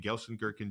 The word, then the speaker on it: Gelsenkirchen: If you say it with a German accent, it probably sounds more like the actual city, but my American accent is Gelsenkirchen.